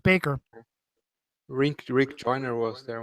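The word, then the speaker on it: Bakker: basically uh Jim backer even though he spells it backer it's pronounced Baker Rick Rick Joiner was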